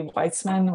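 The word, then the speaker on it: Wajcman: Also work by Judy Weitzman, which is spelled not how it sounds, has been foundational.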